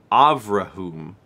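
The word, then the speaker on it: Avraham: It's pronounced Avrahum. It's the Hebrew pronunciation of Abraham.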